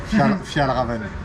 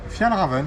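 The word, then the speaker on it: Fjällräven: Eh messieurs, j'ai un énorme problème, j'arrive pas à prononcer le nom de la marque suédoise avec laquelle vous avez fait une collab. Pluk. Fjallraven. C'est juste ça. Fjallraven, ouais.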